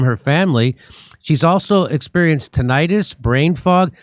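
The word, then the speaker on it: tinnitus: family she's also experienced tentis brain fog some people say tantis but that's not how you say it I don't care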